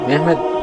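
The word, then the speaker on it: Mehmed: তুর্কি ভাষায় মোহাম্মদকে মেহমেদ উচ্চারণ করা হয়।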